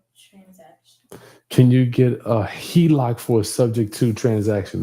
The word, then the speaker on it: HELOC: Can you help get a Helco? A HELOC, Look a home equity line of credit. for a sub-to-deal transaction. Can you get a HELOC for a subject to transaction?